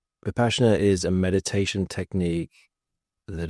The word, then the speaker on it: Vipassana: I think it's actually pronounced Vipassana. Vipassana.